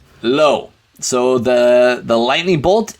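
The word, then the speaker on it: לא: that case all right low low so the the lightning bolt is a lamid and to write it out we're gonna Loop it and hook it and then the aleph is silent and we write it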